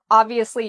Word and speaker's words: obviously: So we put the stress on the first part, ob, and then we have the V, ob-V, and notice how my lips go under my teeth, ob-V, asli. Obviously. Obviously.